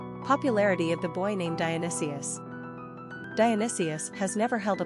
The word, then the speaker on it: Dionysius: Popularity of the boy named Dionysius.